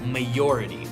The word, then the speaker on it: majority: to talk about is the word majority sometimes people use a Y instead of a J in that word and they would say majority or minority but it's actually the majority of people bla bla bla